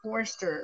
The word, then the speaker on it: Forrester: You got my name, right, Forrester, like the forest.